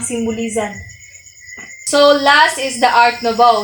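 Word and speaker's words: Art Nouveau: so last is the art nov So it is pronounced by nov so art ofov ornamental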